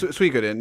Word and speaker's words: Suikoden: Yes, Suikoden.